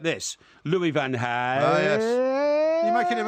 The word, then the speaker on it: Louis van Gaal: I've had an affinity all season because I pronounce his name like this, Louis van Gaal.